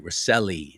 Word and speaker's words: Rosselli: Recile, Rosselli is how it's pronounced.